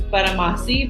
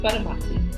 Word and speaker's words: Gbadamosi: to go by absolutely my last name is baramasi the g is silent so it's just buttermaki lovely but a bossy